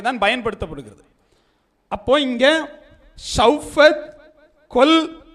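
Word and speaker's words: כל: அனைத்து தினங்கள், அனைத்து வருடங்கள், எல்லாத்துக்குமே அந்த அனைத்து அப்படின்னு வரும்போது கொல் அப்படிங்கக்கூடிய ஒரு உச்சரிப்போடு வரும். கொல்.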